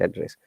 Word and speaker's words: address: We never suggest anyone to give the accurate address. Okay. Now listen to it carefully. How do I address you? Look at this sound. When it is address, we stress on the first part.